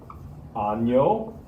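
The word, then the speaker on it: año: does matter okay so we have the word anyo we have the word senor we have the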